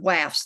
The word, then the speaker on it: WAFS: the the wasp and the waffs yes it's pronounced wafz that act laughs yes okay the wife's